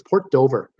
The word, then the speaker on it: Port Dover: And yeah, it's now it's Port Dover. It rhymes with Port Hope. No, it doesn't rhyme at all.